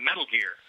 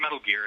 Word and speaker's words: Metal Gear: came out of uh i kept saying uh metal gear and they said no it's not metal gear it's metal gear i said well why is it why is it that and i just say it like that they said say it like richard gere so that's what's running